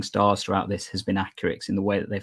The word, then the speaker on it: AccuRx: We say AccuRx, but we're not too offended if people say AccuRx.